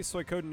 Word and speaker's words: Suikoden: So wait, apparently Suikoden is the Japanese pronunciation for one of the 4 classics of Chinese literature, better known in English as the Water Margin.